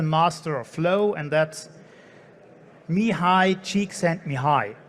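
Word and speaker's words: Mihály Csíkszentmihályi: of flow and that's me high cheek sent me high that's how you pronounce him i would just refer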